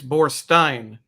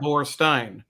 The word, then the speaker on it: Borstein: It's Borstein, right? Like Bierstein. Yeah. Borstein.